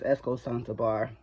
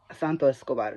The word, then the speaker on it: Santos Escobar: that match first of all nobody really likes Esco santar um Santo es Santo Escobar yes let me go ahead and pronounce it correctly um there were people that